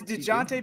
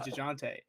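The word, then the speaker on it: Dejounte: killing me with this dun Murray it's it's Deonte but like but dun is how it's like supposed to be spelled like phonetically it's supposed to be Jun but everyone says jante I thought four that was a big thing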